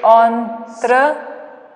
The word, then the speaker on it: entrepreneur: Break the word again, don't pronounce it as you are writing it, Okay, entrepreneur.